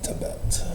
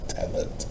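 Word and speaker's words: Tevet: the Jewish calendar love into Tibet or Tet depending on your accent.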